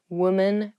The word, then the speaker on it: women: not womens or womans even though the the singular and the plural form of women and women have the same spelling at the beginning wom the pronunciations are different women women so watch out for that when you say